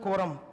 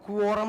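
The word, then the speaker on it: quorum: इसका प्रोनाउंसिएशन होता है कोरम, क्वोरम नहीं होता, ठीक है, इट्स कोरम।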